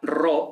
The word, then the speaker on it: ro: Luego, la pi es una P, la ro es una R, como en pero, no como en perro, sino como en pero.